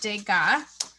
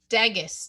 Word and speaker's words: Degas: a little bit about degas this month's artist i wanted to show you his name okay it looks like dagus doesn't it but he's french and we pronounce that de ga can you say de